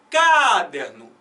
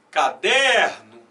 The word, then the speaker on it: caderno: Fala devagar e tenta botar força nessa primeira. Mais ou menos assim, ó. Caderno. Eu não falo assim. Bota na do meio. Caderno.